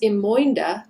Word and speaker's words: Imoinda: Her name, now pronounced Imoinda to fit within the iambic pentameter of the play, is a white woman.